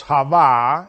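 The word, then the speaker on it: חוה: Because Hava is the way in which you say in Hebrew, Eve. Eva is how you say it in Spanish. But in Hebrew, you want to refer to that name, is of course Hava.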